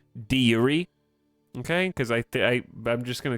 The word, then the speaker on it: de jure: Yes, it's originally de Yuri.